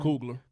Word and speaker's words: Coogler: Coogler.